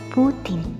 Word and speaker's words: poutine: Yang benar adalah poutine.